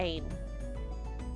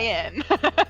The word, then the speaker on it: Ain: As we are going to move on to Ain. Okay. I know I'm pronouncing that wrong. Remind me how to pronounce that. Ian. Ian, Ian. like Ryan without the R.